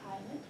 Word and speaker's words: island: Island. S is silent, right? Island.